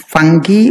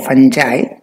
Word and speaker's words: fungi: Now, the main types of microbes are bacteria, fungi, it is also pronounced fungi or fungi, bacterium singular, bacteria plural.